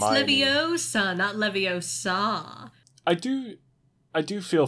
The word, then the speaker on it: Leviosa: they're having charms class it's slivios it's leviosa i do i do